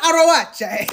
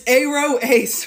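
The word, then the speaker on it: aroace: It is not Arawache. It's Aro Ace. Fuck. Okay, but this is one of the things. It's just way more fun to say Arawache than Aro Ace. Like, Aro Ace, especially for Aro Ace people who are good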